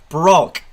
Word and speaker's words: Broch: stream that is and broch is pronounced brock brock i'm so